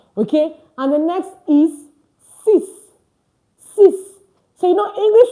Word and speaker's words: six: And the next is sis. Sis. So you know English will tell you six. Six. But French will tell you sis. Sis pronounced like s i s.